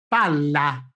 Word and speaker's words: palla: couple: PALA: one L, PALLA double L. Have you heard that in pronouncing PALLA with two L's, I have prolonged ever so slightly the sound of the consonant L?